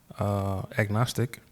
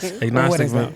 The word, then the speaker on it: agnostic: Agnostic. Agnostic. Agnostic. Agnostic. Ag like Agnes.